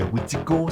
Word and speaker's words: Witiko: Selon la langue, ça se dit aussi Wendigo, ça se dit Witiko, ça se dit Witikau, bref, il y a plusieurs façons de le prononcer, puis je vais tout